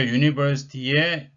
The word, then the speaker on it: university: 근데 발음을 보시면 university, 이게 지금 요 우가 있는데 이게 제2 발음 모양이 있죠. 이렇게 되면 얘가 U가 됩니다. 그러면 U는 모음이 아니고 자음이거든요. 모음인 U가 아니라 이 첫 번째 요 발음이 우가 아니죠. 우가 아니고 자음이 U가 되므로 어를 쓰는 게 맞습니다.